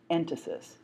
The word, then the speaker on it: entasis: You'll see the word written, but I'll spell it for you right now. It's called entasis, E-N-T-A-S-I-S.